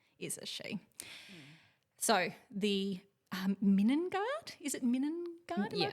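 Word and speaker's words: Middengard: So the Minengard, is it Minengard? Am I pronouncing that right? Minengard, yeah.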